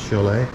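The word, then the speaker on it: Šiauliai: to the town of Chalet Chalet but look how it's written I can't believe it's pronounced sholay but we know we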